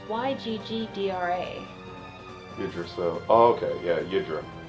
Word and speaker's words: Yggdra: I said Yggdra. I say Yggdra. It can't be Yadra. It's Yggdra.